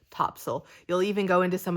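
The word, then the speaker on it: Topsail: funny because you know based on the way it's spelled everybody who's not from here calls it top sale um even though all the locals and everybody else calls it topsil you'll even go into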